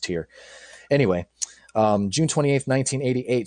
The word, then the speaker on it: Tyr: ahead to the 28th i think that's actually pronounced tier i'm sorry tyr i think this pronounced tier anyway um june 28